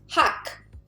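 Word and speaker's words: 학: we got heat ah so we know consonant vowel is ha final consonant is k so therefore hak and then kyok school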